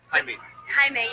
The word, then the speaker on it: Jaime: Jaime. Yeah. Jaime. It's like Spanish for Jamie, like the way Jamie is spelled.